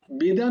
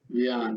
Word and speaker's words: ব্যান: বেদান নয়, ব্যান, ব্যান, জ্ঞান, জ্ঞান, বয়ে জফলা আকার দন্তন্য, ব্যান। বয় বয় জফলা আকার দন্তন্য। হ্যাঁ, আচ্ছা, ঠিক আছে। ব্যান, জয় গুরু ব্যান, রাধেশ্যাম। ব্যান।